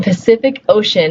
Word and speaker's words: Pacific Ocean: The first C gets a S sound. The second C gets a K sound. And the third C gets the sh, oh sh sound.